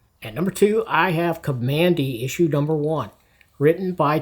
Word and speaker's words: Kamandi: Uh one curious thing I hear some people mispronouncing Kamandi. It's not Komandi.